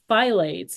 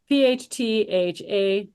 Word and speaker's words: phthalates: Phylates, PHT, how do you spell that? Phylates, yeah. PHTHALATES, Alex, yes, that's in the phylates.